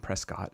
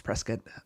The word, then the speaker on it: Prescott: It's Arizona, so it's not Prescott. It's Prescott.